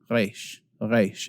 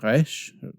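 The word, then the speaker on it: רֵישׁ: In fact, Hebrew speakers today will pronounce this more like a reish. It's more in the back of your throat, in the soft palate area towards the back.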